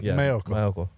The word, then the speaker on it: Maiocco: Well pronounced. Yeah. Thank you. Is that how you say it? Yeah. Maiocco.